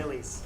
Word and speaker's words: Millie's: So this is Miley's restaurant. How long has this restaurant been here? Millie's. Millie's. Millie's. I keep saying it wrong.